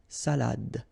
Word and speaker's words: salade: All right, so une salade, same thing here, final you don't insist on it, it only gives you the pronunciation of the previous letter, so d, salade, okay, une salade, un